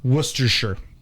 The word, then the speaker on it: Worcestershire: So the sauce Worcestershire? is just Worcestershire.